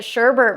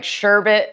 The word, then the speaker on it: sherbet: say, oh my God, I've been calling it Sherbert my entire life. So it's been like this. I'm not a grammar Nazi whatsoever. I don't care if somebody pronounces something differently, but Sherbet is one of those